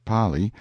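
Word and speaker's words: Pali: the frightful precipice of the P pronounced Pi intelligent natives claim that there is no R in the kanaka alphabet in front and then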